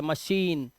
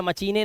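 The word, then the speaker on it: machine: आ रही है मशीन तो यहां पर यह श का रोल प्ले कर रहा है बट स्पेलिंग के अंदर सीच होता है देखो ध्यान से इसे पढ़ते हैं मशीन इसे मचाई या मचने नहीं पढ़ते ना कि मचने या मच ऐसा कुछ नहीं पढ़ते इसे पढ़ते हैं मशीन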